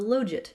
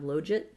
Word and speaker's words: logit: about my pronunciation of logit. His rationale is that it's the logit, because you don't take the log, you take the log. I can't argue with that.